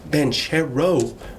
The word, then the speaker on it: Banchero: They got Banchero. Rhymes with churro.